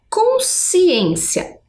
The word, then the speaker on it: consciência: Por exemplo, aqui, né, temos a palavra consciência. Quando esse encontro é um dígrafo, percebam que é um som único, né?